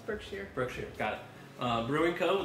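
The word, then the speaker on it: Berkshire: I am drinking a birkshire birkshere. Birkshere. I don't know how to say it. Birkshshire like the huts. It's Birkshshire.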